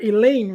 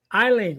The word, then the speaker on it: Eileen: I want to say I make sure I'm saying your name right elen right e Eileen okay see I knew I